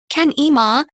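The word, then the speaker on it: Kenema: bioweapons scientists working at Kina, pronounced Kan-Ema, hospital give a particularly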